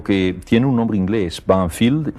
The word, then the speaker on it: Banfield: que en la Argentina el pueblo se llamaba nosotros lo pronunciamos banfiel y es un pueblecito